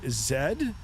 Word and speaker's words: Z: bit of confusion, but that's how we pronounce the letter Z, we pronounce it zed.